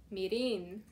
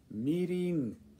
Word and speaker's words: mirin: How do you say this? Mirin. Mirin. Mirin. Not Mirin.